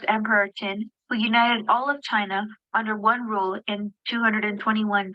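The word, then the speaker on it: Qin: who United all of China under one rule in 221 BC so what was the name of the first emperor I hope this one is pronounced weird but pronunciation is chin I'm having trouble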